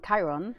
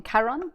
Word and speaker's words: Chiron: so it's it's co it's Karen Chiron as I keep getting the name wrong Karen yeah which is a